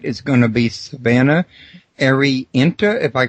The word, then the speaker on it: Arienta: Now, Arienta, Savannah, first I want to ask you, is did I get the pronunciation right on the name? You did, Arienta. Arienta, perfect.